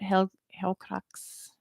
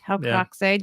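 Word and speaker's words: Helcaraxë: Helcaraxe, yeah, Helcaraxe due to Feanor burning the ships and leaving Fingolfin and his people behind, which is a good reason to dislike him.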